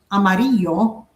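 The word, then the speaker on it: amarillo: Like the double L in Mexico is just sounds like a Y. So like amaro, the color yellow, amaro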